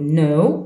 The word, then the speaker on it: know: الكا هذه silent ما نطقوهاش، نقولوا know I know I knew عرفتو.